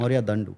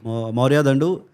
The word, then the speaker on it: Mourya Dandu: We have with us Mourya Dandu. Did I pronounce that right? Yeah, that's pretty good. Yeah. Like the and the da. Yeah. Mourya Dandu. Yeah. Mourya Dandu, photographer par excellence.